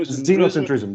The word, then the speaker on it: xenocentrism: and tourism you know xenocentrism yes begins with an x okay but it is pronounced as a z and thank you very